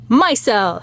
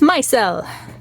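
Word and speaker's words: micelle: the flower is called my cell it's not your cell it's my cell but it's not spelled like it's like this myel almost like Michelle Michelle so hydrophilic hydrophobic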